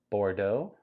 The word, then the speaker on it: Bordeaux: It's pronounced Bordeaux.